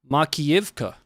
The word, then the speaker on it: Makiivka: Once again, pronunciations are not really my forte, but this is Makiivka, which is in Luhansk.